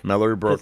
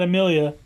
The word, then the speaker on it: Mallory Brooke: lawyer, the female one, they say her name and it's Mallory Brooke. Mallory Brooke, It's not- not I just Amelia. not Amelia.